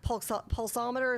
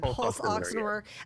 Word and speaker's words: pulse oximeter: Well, and when you talk about that, the pulsometer, is that how you say it? Pulse oximeter.